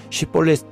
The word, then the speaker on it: 쉽볼렛: 그런데 베냐민 사람들은 쉽볼렛 발음이 안 되고 십볼렛이라고 발음을 했지요.